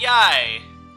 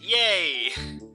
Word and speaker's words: Yae: meet people we meet Yai not to be mispronounced yay although that is my